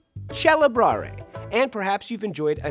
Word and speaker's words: celebrare: happened as Italian developed when the C is followed by an e the C became a cha the word celebrate in Italian chel and perhaps you've enjoyed